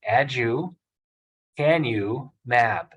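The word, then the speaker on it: aducanumab: there's a medicine called adukanamab and so the best way to break agricant about down is by breaking it into three syllables add you can you map and when you see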